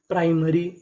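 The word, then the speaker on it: primary: नियम ये है कि हम लोग पीआरआई को कभी प्री पढ़ते हैं और कभी कबभार प्राई पढ़ते हैं जैसे पीआर I price and एम ए आर वाई मरी। प्राइमरी प्राइमरी प्राइमरी का मतलब होता है प्राथमिक।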